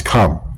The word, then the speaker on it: Ham: See, the Hamites, how you say Ham is Khe'm. Khe'm is how you say Ham.